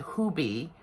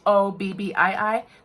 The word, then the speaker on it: Hobbii: Actually, they pronounce it Hobby. I went and I checked it to see how they pronounce it. Hobbii.